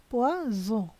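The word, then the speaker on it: poison: দেখুন এখানে এই যে এই শব্দটা আছে না, এটা হলো পে ও ই এস ও এন, উচ্চারণ হয়েছে পোয়া জো। এই যে এখানে হয়েছে জো, কেন জো হয়েছে? এস এর আগে একটা ভয়েল এবং পরে একটা ভয়েল।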